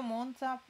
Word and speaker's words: Monza: perché è molto felice io monza pronuncio con la z sonora come azzurro zanzare monza invece top sor